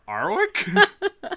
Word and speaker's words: Warwick: he gave instructions don't pronounce the w r arwick no the second one anyway yeah you should